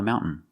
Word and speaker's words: mountain: You have two pronunciations. You can say mountain, making the T sound, mountain, mountain. Or you can make a stop T, mount, put the tongue up and stop the air, and then fall to the N. Mountain. Both pronunciations are correct.